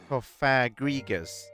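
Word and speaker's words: Cofagrigus: He's trying to He's trying to teach me to pronounce it. Kofagrigus. Gus. Gus. Okay, whatever. Well met. We, if we may be so bold, are Kofagrius, the attraction boss. In our attraction, you can make cake. Of course, the cake you make is yours to eat. Now go play our cake contraption. Our what now? Oh, okay. Um, Shik says G is in Gustavo Fring says who, as it happens, was canonically gay.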